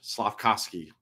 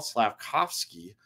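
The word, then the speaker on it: Slafkovský: say was it yage slavkovsky I always want to say see I always want to put I want to get rid of that V SLA kovski slav kovski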